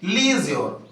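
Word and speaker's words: leisure: ई एल इ आई एस यू आर ई लीज योर क्या बोलते है इसको लीज योर ये भी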